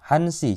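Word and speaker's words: 한 시: Untuk angka 1 sampai 4 itu huruf akhirannya kita hilangkan. Cara baca jam ini. Jadinya ini hansi jam 1, kemudian tusi jam 2.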